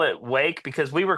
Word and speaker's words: Rwake: and our vocalist, C.T., he tried to pronounce Wake, but in his slurred state, he just said, "Rake." And so, we were like, "Yeah, that's it. We'll just put an R on the front." But, it's hard to pronounce that in just day-to-day um situations. You know, it's hard to just be like, "Rake." So, we still call it Wake.